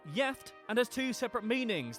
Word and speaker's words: gift: One Swedish word that is spelled the same as the English is gift but is pronounced yift and has two separate meanings.